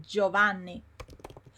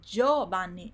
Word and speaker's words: Giovanni: For example, buongiorno, yes, or we have we have a name in Italian which is Giovanni. And many people say Giovanni, but it's not. It's Giovanni. It's not Giovanni. It's just Giovanni. And the reason is that the I is silent.